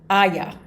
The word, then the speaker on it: Oia: Back to the town of it's spelled Oia. Aya. I think it's how you pronounce it.